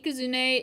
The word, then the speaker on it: Ikazune: around Japanese culture, and the way that they pronounce thing is they have it separated by like specific characters, so it would be I, Ka, Zu, and Ne. And you put those together, you get Ikazune or Ikazune.